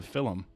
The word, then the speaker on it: film: know what is a film film it's not just me fi ll um it's basically a movie in Ireland we add a little bit of an extra syllable just for the cracker it's an Irish movie